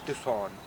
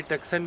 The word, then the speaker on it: Tucson: और इसकी जो टॉप सेलर गाड़ी जा रही है वो है हुंडई टुक्सन। कुछ लोग इसको लोकली टक्सन भी बोल रहे हैं, बट इसकी राइट प्रोनाउंसिएशन है हुंडई टुक्सन।